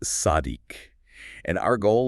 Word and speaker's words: צַדִּיק: The word is sadik. That's spelled sad dal yod kuf pronounced sadik.